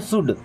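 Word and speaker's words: should: अब इस वर्ड में एल साइलेंट होता है ना? इसे पढ़ते हैं शुड।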